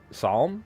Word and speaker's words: psalm: Is it psalm? It's psalm, right? The p is silent.